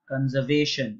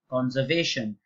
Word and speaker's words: conservation: You can't say conservation. You have to say conservation.